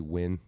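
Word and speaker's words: Nguyen: uh Asian poker player named Scotty win spelled like ngg Yu n orever you talking about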